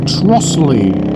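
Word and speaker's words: Trottiscliffe: It's spelled Trotis Cliff, but apparently it's pronounced Trussley.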